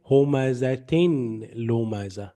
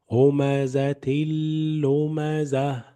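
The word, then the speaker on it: هُمَزَةٍ لُمَزَةٍ: So don't say homazatin lomaza. No. Homazatil lomaza. Homazatil lomaza.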